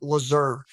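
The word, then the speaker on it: Lasur: do a transparency which in German it's termed lazur l a s Ur and that means like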